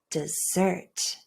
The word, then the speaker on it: dessert: So if you go and ask for a piece of desert, people might wonder, what? You're going to buy the Sahara Desert in Africa? But if you ask for a piece of dessert and you use that schwa sound, everyone will understand you much better.